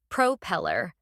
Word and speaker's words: propeller: propeller notice how the stress is on the second syllable propeller now let's talk about